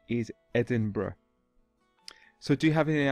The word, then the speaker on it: Edinburgh: It's actually the capital of Scotland, and many people pronounce it Edinburgh, but the correct pronunciation is Edinburgh.